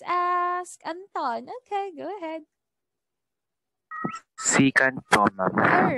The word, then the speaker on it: secant: Secant po, ma'am. All right, very good. We have secant, or some pronounce it as second.